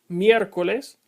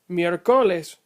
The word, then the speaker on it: miércoles: If the accent mark were not written, you would pronounce miércoles like miércoles. And since that is not how it is pronounced, you have to put an accent mark over the E.